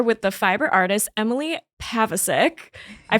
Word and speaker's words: Pavacic: I am here with the fiber artist, Emily Pavacic. I pronounced that correctly.